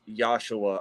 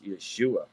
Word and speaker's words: Yeshua: see the yeshua of yahuwah and thus not pronounced as yahshua or joshua neither that is yeshua of yahuwah so he's just to point out